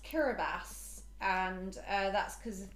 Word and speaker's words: Kiribati: -k-i-r-i so I thought it was it was Kiribati hmm so it turns out it's pronounced kiribatas and uh that's because of my complete lack